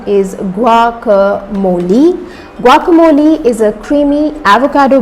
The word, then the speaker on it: guacamole: Well, its correct pronunciation is guacamole.